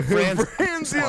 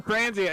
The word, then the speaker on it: Franzia: Franzia all the way. It's not even Franzia. It's Franzia. It's Franzia. You have to say it right.